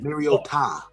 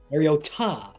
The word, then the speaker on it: Mariota: It was actually pronounced correctly. Really? From the Hawaiian pronunciation. Mariota. Mariota. Not Mariota.